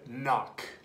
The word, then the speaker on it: knock: and spell the word knock spell the word knock knock no there's a k you don't see how just because you can't hear the K doesn't mean it's not there spell it with a